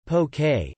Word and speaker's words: poke: may also be added to the dish poke pronounced poke is often served as an appetizer or as